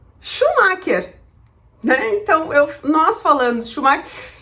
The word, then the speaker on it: Schumacher: que nós conhecemos, o Schumacher, Então, nós falando Schumacher, e eu vi que ela não entendeu, e quando ela entendeu, ela falou da forma que eles pronunciam em alemão. Vamos tentar. Cláudia, please don't laugh. Michael Schumacher.